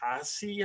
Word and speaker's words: Haase: But this Detroit kid, Eric Haase, I think is how you pronounce it. Yeah, you're the pronunciation guy. Maybe that's right. Eric Haase. Haas, just Haas.